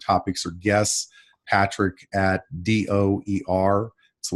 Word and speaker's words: Dougher: or guests Patrick at do er so when you pronounce my last name do er success as you see